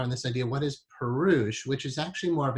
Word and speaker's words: Purush: The first word is Purush, P-U-R-U-S-H. Sometimes you hear it as Purusha, but a more accurate pronunciation, if you're saying just the word by itself, Purush.